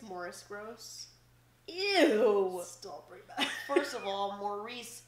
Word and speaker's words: Maurice: think in the video his name is Morris but it's like it's spelled like Maurice oh that's the worst name ever Maurice gross I think it's Morris gross first of all